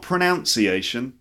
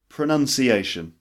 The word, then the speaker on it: pronunciation: 20 pronunciation pronunciation not pronunciation it's a common mistake it's actually pronounced pronunciation so that now in his pronunciation the verb is pronounced but the noun pronunciation so for example pronunciation